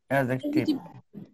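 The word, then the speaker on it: adjective: অ্যাডজেক্টিভ। ডি এর উচ্চারণ হবে না, অ্যাডজেক্টিভ না, অ্যাডজেক্টিভ। ঠিক আছে? এডিজে পাশাপাশি থাকলে ডি এর উচ্চারণ হয় না।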